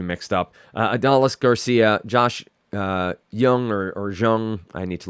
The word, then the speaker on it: Jung: Do we get a pronunciation? It says Young, so Josh Young.